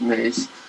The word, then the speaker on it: Mes: from a book by tom mace who's a film critic emmy s but it's pronounced mace uh who wrote a